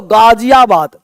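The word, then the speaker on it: गाज़ियाबाद: बोलते हो गाजियाबाद गाजियाबाद अब गाजियाबाद का जो जी ये जो ग है इसको पता बोलते हैं गाजियाबाद गाजियाबाद चंकि हुआ क्या है कि पहले जो यहां पे मुस्लिम शासक थे उन्होंने नामकरण किया था तो नामकरण के आधार पर उस ग को गले से पढ़ते थे इसलिए गाजियाबाद में जी एच से शुरू होता है गाजिया कभी भी जो है जी ए शुरू होगा जी एच शुरू होगा जी शुरू नहीं होता वो ग है यह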